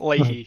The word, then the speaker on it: Leahy: I have been corrected on stream about the pronunciation. So Late. Leahy.